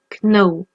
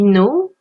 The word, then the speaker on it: know: On ne prononce pas le cas, on ne dit pas kno, on dit. D'accord ? Le K est une lettre muette. Attention. Donc ce qui nous donne I know, you know, he, she, it knows, we know, they know.